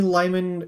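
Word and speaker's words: Limon: There's a city in Colorado where I'm from called Lyman, but it's spelled L-I-M-O-N.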